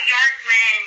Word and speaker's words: Bjorkman: It's Bjorkman, like New York. Think of it, BJ Bjork. It's Norwegian, Swedish. Bjorkman. Bjorkman. Bjork. Is that how you pronounce it? No, the J's like a Y.